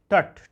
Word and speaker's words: Tut: विषय में क्या बताया कुछ लोग इसको टूट पढ़ते हैं कुछ टट पढ़ते हैं मैंने गल करके देखा तो कई तरह से मुझे उच्चारण इसका मिला टट भी कई लोगों पढ़े और टट भी पढ़े आगे देखते हैं एंड